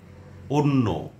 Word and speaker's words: অন্য: যেমন অদ্য, অন্য, অত্যন্ত, অত্যাচার, কন্যা, কল্যাণ। এটি কল্যাণও উচ্চারণ হয়।